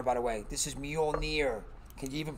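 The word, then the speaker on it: Mjölnir: not the hammer by the way this is mjolnir can you even pronounce that mule near near thor's hammer okay it's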